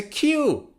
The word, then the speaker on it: queue: look at this word how do you pronounce it q it's a q now a queue is